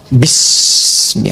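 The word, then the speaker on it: بسم: Itulah sebabnya ketika walaupun di sini ada alifnya, tetap dibacanya cepat dan pendek. Iqra bismi rabbik.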